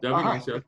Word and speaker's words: Devin Asiasi: Is that how you pronounce it? Yeah. Okay. Devin Asiasi. Yeah. Just like it's done.